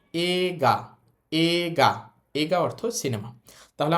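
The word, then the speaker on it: 映画: এইটার উচ্চারণ এইগা না বলে এটার উচ্চারণ বলব আমরা এগা।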